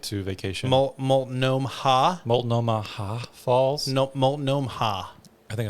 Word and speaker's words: Multnomah: Multnomah Falls?